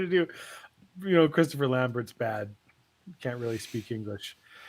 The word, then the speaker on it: Lambert: voice on demand Christopher lamber as Raiden AIDS pronounced Lambert that's how we pronounce it in Canada yeah as Raiden oh